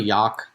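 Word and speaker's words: Jagd: Yag. Yag. It's really Yak. If you go like if you want to say it like German way, what What it translates to is Yak in German is hunt, so it's the hunting Oh, terrier.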